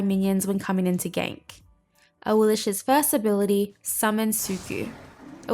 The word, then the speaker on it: Awilix: modes as well with that let's go through a Will's abilities oh and a quick side note that is actually how you pronounce her name correctly a Will's passive initiative